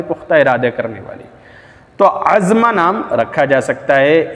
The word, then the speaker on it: عزمہ: تلاش اور جستجو کے بعد یہ ملتا ہے عزمہ، عزمہ ملتا ہے، اور اس کا تلفظ اس طرح سے ہے جیسے میں دکھا رہا ہوں، عین زا میم یا، اس کے اوپر کھڑا زبر، عزمہ، عزمہ نام ملتا ہے۔ تو عزمہ نام آپ